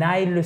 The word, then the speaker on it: aisle: An aisle seat. An aisle seat. An aisle seat.